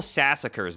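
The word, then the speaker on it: Sassacre: Is it sa sass? Like massacre but with with an s? Yes. Okay. Colonel Sassacer's daunting text.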